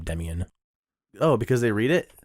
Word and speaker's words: Demian: always default to most people mispronounce the first name it's like in their mind they're reading it something the first name yeah I bet people and only effect 20 years to pronounce my name Demyan oh because they read